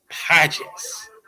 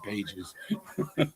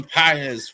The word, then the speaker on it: Pages: Number four, Andy Pes. I'm I'm so tempted to honestly say Andy Pages, but that's not how you say it. Andy PZ for the Dodgers as well.